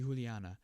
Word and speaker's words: Juliana: In Spanish, J is pronounced H, right? Can't type. What about for names? Okay, so it'd be Juliana.